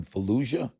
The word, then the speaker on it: Fallujah: You said in the past that there's a sense of urgency that came with Dean from Fallujah. Am I saying it right? Fujia. That's right. Yeah, that's right.